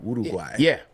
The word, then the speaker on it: Uruguay: Ooh, Uruguay. Yeah, that's how they pronounce it. You got to let it roll off like that.